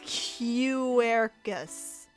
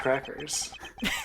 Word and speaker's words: Quercus: So why do you attempt to pronounce it as Quercus? I don't know. I'm Plot moving on. twist, it actually is pronounced Okay. crackers.